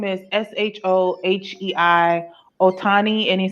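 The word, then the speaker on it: Shohei Ohtani: there but he basically his name is s-h-o-h-e-i ohtani and he says the apology and i'm if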